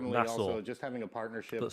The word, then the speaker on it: Nassau: Most was called Nassau, just having a partnership but spelled N-A-S-S-A-U. And I knew it's pronounced Nassau because that's how they pronounce it in Assassin's Creed Black Flag.